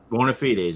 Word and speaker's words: bona fides: Bona fides, yes.